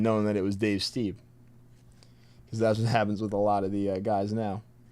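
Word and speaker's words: Stieb: If they have like a different pronunciation, or Dave Steeb, not Stibe.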